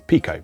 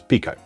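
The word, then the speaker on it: Piko: evercate you notice i've gone back to saying pico because after the last pico video i was corrected that uh in spanish uh pi is indeed pronounced p so it's pico now um racing fever is a pretty obvious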